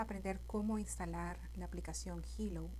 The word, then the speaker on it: Healow: teléfono vas a escribir la palabra Hello que se escribe H e a L o w va a salir una